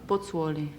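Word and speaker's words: Pozzuoli: during the war and you how do you pronounce the name of your original hometown botsworli yes then you went from there to naples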